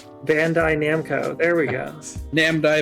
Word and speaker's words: Bandai Namco: them is made by namai Bando oh there you go except say say it correctly Bandai Namco there we go Nam